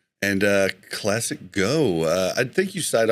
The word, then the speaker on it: ClassicGho: you just youtube uh classic go g-h-o uh weird spelling i don't even know why my name eventually made sense i didn't gho to be pronounced go but it works so